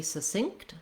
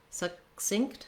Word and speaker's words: succinct: be succinct succinct succinct i do need to stop that first k sound um i don't need to release it but i don't want to drop it it'll sound more like succinct which is an error that i just made